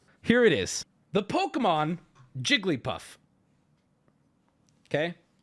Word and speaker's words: Jigglypuff: at you with both it's three the answer is three and if you say four you are adding in an additional syllable when it is three it is not four there is no debate I'm starting to get mad already Jigglypuff has three syllables even if I say Gully puff I'm adding that in I'm pronouncing it a different way but objectively it still